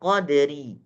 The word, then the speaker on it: qadr: Kalau dia dalam keadaan sukun, maka dia tetap dibaca tebal. Qadr, qadr, ro-nya tebal.